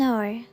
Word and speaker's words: hour: possible to drop the each and we don't pronounce it worse like a nest an hour air or we don't drop each there are